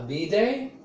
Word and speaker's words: bidet: A bidet, notice the pronunciation and notice that there is a silent letter. That's the T.